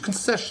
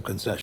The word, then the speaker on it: concession: concessions concessions yes concessions when pronouncing this noun there are three syllables and the stress is on that second syllable concession and another syllable stress rule for you is that when a word ends in s IO n the stress is going to come on the syllable before it so that second to last syllable concession another good rule to